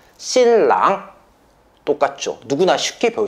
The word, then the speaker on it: 新郎: 한자 똑같기 때문에 발음도 똑같아요. 신랑 똑같죠.